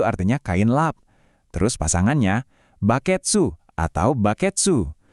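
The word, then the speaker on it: バケツ: Terus pasangannya, baketsu atau baketsu. Nah, baketsu ini juga kedengarannya mirip bucket kan, jadi lebih gampang buat dihafal.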